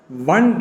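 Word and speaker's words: one: இன் இதை எப்படி உச்சரிக்கிறோம் நம்ம எல்லாருமே ஒன் ஒன் ஒன்னு வாசிக்கிறோம் நோ it should be ப்ரோனௌன்ஸ் like this பன் பன் பன் அங்க ஓ என்ற எழுத்து இருந்தபோதிலும் கூட வன் என்று வா சவுண்டு வருவதால் அங்கு ஆன் போடக்கூடாது ₹1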